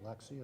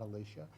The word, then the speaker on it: Alexia: First of all, I mispronounced your first name. I know your name is Alexia, not Alicia.